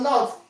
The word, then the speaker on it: know: Your not your knowledge knowledge. The K is silent. Your no the K is silent.